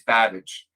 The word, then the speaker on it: Babbage: solid came in and said well actually it's Babbage and it's like oh my God we're like